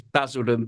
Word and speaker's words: Basildon: let me make sure I got this right, Basildon. Is that how you pronounce it? It's Basildon, but that will do.